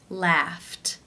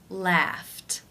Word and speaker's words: laughed: the unvoiced F sound since its unvoiced it is case one where the ED is pronounced as the T sound laughed laughed how do you pronounce